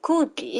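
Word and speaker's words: 空鬼: すけど、空鬼って書いて空気って読むらしいですね。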